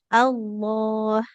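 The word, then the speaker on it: الله: Lamnya tebal. Allah. Allah. Nah, tebal dia.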